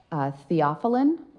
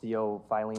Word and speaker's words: theophylline: Theophylline.